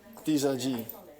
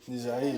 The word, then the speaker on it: Dizaji: Dizaji. Oh, that you said well Because other people say Dizai.